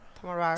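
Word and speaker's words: Tamraght: Oh, it's like if it's Tamrat. Tamrat. All right. It's like an R. Yeah, that's kind of hard. It's a G. It's a GH. It's an R. Tamrat. It's pronounced R. Tamrat.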